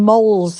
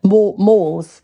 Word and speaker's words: mall: Yeah, but how do you say mole? Mall. A shopping mall. Shopping mall. Suddenly sounds weird. Mall. Shopping mall. Mall or mole?